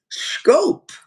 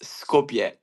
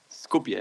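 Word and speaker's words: Skopje: Uh, talk about your town and tell me if I'm pronouncing it right, scope. It's Scopier almost. Scopia. Scopia. Yeah, Scopia.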